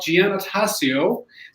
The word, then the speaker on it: Giannattasio: So I would like to welcome Giannattasio. Nice. Did I pronounce it correctly?